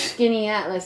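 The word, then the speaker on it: Skaneateles: news the weather is skinny at least that's how it's pronounced oh it's a lake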